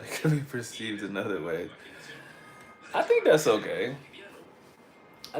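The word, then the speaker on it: wey: And so Bue changed to Gwe, and they were actually saying it like way. But over time, that G changed to a W, which is why you see people spell it with a W now too. They'll spell it like W-E-Y.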